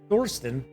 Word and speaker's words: Thorsten: The coastal town of Thorsten, pronounced Thorsten, I love that. It's pronounced exactly as it's written.